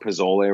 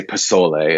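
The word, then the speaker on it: pozole: recipe in there um or i should say pisole it's i know i was pronounced that it's more of an s sound to it even though it's spelled with a z um it's a fantastic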